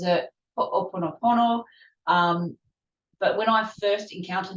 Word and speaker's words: ho'oponopono: He pronounces it ho'oponopono.